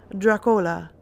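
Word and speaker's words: droch-fhola: were Dracula comes from the Irish rock for Halle pronounced drew Cola meaning bad blood number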